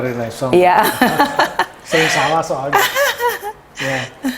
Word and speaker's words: Renaissance: Bacanya Renaissance.